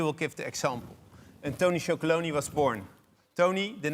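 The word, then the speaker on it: Tony's Chocolonely: And then, Arjan, tell us about Tony Chocolonely. Oh, you pronounce it pretty well.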